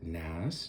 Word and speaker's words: Kneass: this guy named napoleon bonaparte nass jr the last name is spelled k-n-e-a-s-s just assuming you